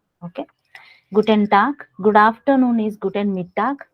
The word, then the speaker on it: guten Tag: it is pronounced as guten tag whereas in the bracket i have written k yeah because whenever a word ends with g it is pronounced as ka we have certain tips